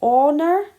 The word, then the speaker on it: honour: And the last one, it was, remember we're saying honour, so it starts with the o sound, which is a vowel sound, an honour to meet the queen.